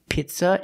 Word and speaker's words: pizza: words are pronounced differently the first word is not pizza it's Pizza we cannot use the short I sound like this is we have to use a long e sound like green beans the word is pronounced Pizza P the long e Pizza and Pasta we